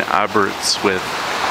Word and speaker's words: Aberystwyth: Okay, we're here in, how would you pronounce the name? The lady said Aberystwyth. Okay, so we're here in Aberystwyth, and what did we just do?